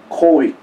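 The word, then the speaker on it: COVID: 요 사이 코윅 19 태국말 코윅이에요. 태국말은 V자를 B자 발음식으로 내는 게 아니고 W자 위자 발음으로 해요.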